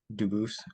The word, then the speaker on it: Dubis: I am Anthony Edward Duboose. Um, Dubis is the English pronunciation. Duboose is the original French.